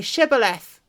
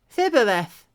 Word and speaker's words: Shibboleth: If he said no, then they would say to him, "Then say Shibboleth." And he would say Thibboleth, for he could not pronounce it right.